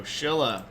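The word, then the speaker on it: Silla: start off with the Shilla and I know that looks like Sila but it is pronounced with a sh sound so Shilla uh and we'll be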